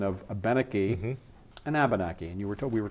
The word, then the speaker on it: Abenaki: The emphasis has to be on a certain syllable. The third syllable from the end in any word that has more than three syllables has the emphasis or the stress. In English, we often stress the end, so we say Abenaki. Now, if I go back three, we have Abenaki.